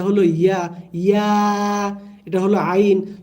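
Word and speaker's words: عين: আইন, এখানে আইন ইয়া জবর আই, হরফের নাম যেটা আই, নুন দুই পেশ নুন, আই নুন, আই এ এখানে টান দিতে হবে। অন্যভাবে টান দিলে ভুল হবে। আপনি যদি আইন এভাবে বলেন তাহলে ভুল হবে।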